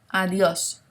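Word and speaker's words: adiós: pronunciation of this word, the D sounds like a TH, okay? So try putting your tongue on your top tooth, kind of over your top tooth to make the TH sound, like the, and you'll get a better pronunciation, okay?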